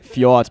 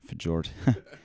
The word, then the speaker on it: Fjord: Yeah, in German it's Fjord, but in English, Fjord.